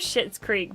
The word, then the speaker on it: Schitt's Creek: Okay, it's called Schitt's Creek, but it's spelled S-C-H-I-T-T.